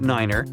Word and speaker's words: niner: It's the way pilots pronounce certain numbers in their pilot English. Tree stands for three. Five for five and niner is used instead of nine. Such pronunciation helps to avoid radio miscommunications and the confusion caused by similar sounding numbers.